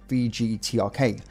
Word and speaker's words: VGTRK: Radio Broadcasting Company, but in Cyrillic, its initials are pronounced VGTRK.